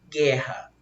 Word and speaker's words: guerra: GU com asterisco, porque o U não foi pronunciado. Eu não falo guerra, eu falo guerra.